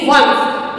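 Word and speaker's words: once: base प बनता है ओ एन सीई वनस यानी कि वन वनस लेकिन ओ एन ए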